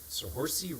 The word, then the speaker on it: Saoirse: Saoirse. Yeah, go on, say it. Saoirse. Okay, it's important we pronounce that as Oh, you Saoirse.